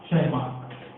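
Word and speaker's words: Tschermak: rediscovered by Paul Lawrence, ठीक है, D Vries, in fact Hugo de Vries, और Paul Lawrence, Hugo de Vries और एक और साइंटिस्ट शेरमार्क, टी साइलेंट, ठीक है, इनफैक्ट एरिक वॉन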